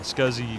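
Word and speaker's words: SCSI: but for example uh scuzzy was pronounced scoozy see I never heard it pronounced scoozie I always pronounced it scuzzy uh in your circles anyway scuzzy for sure I IDE didn't but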